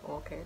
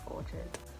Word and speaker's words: Orchard: up we've got orchard i pronounce it orchid because that's just how i've always said it but it is orchard oh that looks really